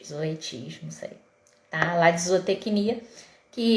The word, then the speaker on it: Zoetis: eu faço o projeto utiliza o zoet não sei se é assim se pronuncia Tá mas é enfim é z o t e s zoet zoetis tá lá de zootecnia